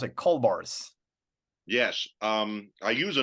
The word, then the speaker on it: Kaulbars: the back but uh gez I wonder where Rick is we'd better call bars see and then see